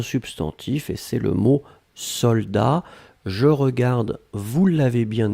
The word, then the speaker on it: soldat: Je regarde, vous l'avez bien écrit, attention save the best, soldat avec un T final, on ne prononce pas le T, mais logiquement il devrait être là, d'accord? Donc soldat, S-O-L-D-A-T.